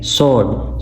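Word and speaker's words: sword: सॉर्ट सॉर्ट W silent है।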